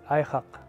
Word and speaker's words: Airraq: pronounced you pronounce it you pronounce it ihak pronounced I yeah you say it from your throat deep down it's pronounced so